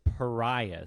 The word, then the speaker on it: pariah: The word of the day is pariah. Say it with me now. Say it with me now. It rhymes with Mariah, as in Carrie, and this story is